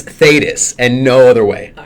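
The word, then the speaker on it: Thetis: believe is her name spell that t that's t h e t i s andthus there's no other way of pronouncing that name it could be T tatus right the h no no we're not even GNA uh we're not even going to head down that road okay it's thus and no other way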